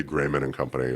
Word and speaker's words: Grayman & Co: But we like to say Grayman Company, like a proper tailoring house.